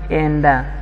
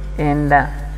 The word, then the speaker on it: enda: I think you've got the pronunciation, because I have this word enda, which is e nda, and you call it enda.